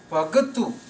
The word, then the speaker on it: Bhagat: Bhagat is a plural word when there is ta sound at the end without any vowel sound. Ta, Bhagat. This is a plural word from Bhagatu. Bhagatu with a U sound at the end means one devotee, and when this U sound is removed, the word becomes Bhagat, and the word Bhagat means many devotees.